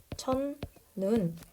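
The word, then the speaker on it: 첫눈: 음절 이하에 오게 되었다 그럼 이때 그냥 첫 눈 자 죄송해요 발음 자체를 적어야 되니까 음악까지 일어난 천눈 이렇게 발음하게 된다 포인트는 저 뒤에 있는 눈을 장음으로 발음하지 않는다는 거예요음 둘째 음절 이하에 올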